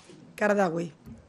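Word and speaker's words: Qaradawi: lo he oído hablar de él yusuf al qardawi verdad que no lo conocen lo pronunciamos mejor producción fatal los nombres a graves y éste me va riñendo qardawi pero se escribe cada la uy ustedes me dirán y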